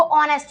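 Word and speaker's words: honest: तो आई एम नेस्ट इसको ऑनेस्ट बोलते हैं ठीक है एच यहां पर साइलेंट रहता है तो आई एम ऑनेस्ट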